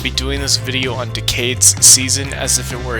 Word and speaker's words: Decade: Decade is a pun on decade, as in this was a 10-year anniversary, but also is pronounced like decayed, like when things are breaking and falling apart.